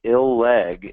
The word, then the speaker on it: Illig: You can think Illeg if you want to know how to pronounce his name, I-L-L-G.